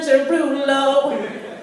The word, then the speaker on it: Derulo: pronounce his name properly it's not jason jarvilla it's jason jerulo there you go but